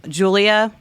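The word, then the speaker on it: Giulia: uh who is it Julia you spell it g-i-u-l-i-a um Dragon I don't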